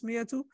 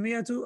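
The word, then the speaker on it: مائة: So similarly, in miyatu, alif is zaida.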